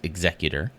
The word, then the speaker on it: Executor: can't see it there executor with the o r there is only one pronunciation which is executor executor would be ER